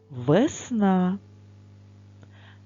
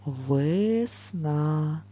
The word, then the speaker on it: весна: е наприклад весна наголос падає на букву а але говорячи це слово ми проговорюємо його повільно весна звук е ми говоримо Трошки тихіше інколи може почутися звук